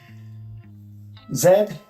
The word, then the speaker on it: zed: Zed is the last letter in the English alphabet that I found out is pronounced zed.